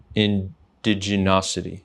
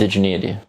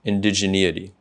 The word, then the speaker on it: indigeneity: A lot of what you talk about is the concept of indigenosity. Is that how you say it? Indigeneity. Indigeneity. It's a tough word.